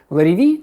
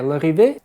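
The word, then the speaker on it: Larrivée: Многие американцы и на английский манер ее называют Larivi, на французский она скорее Larive. Соответственно, как вам больше нравится, так и можем ее называть.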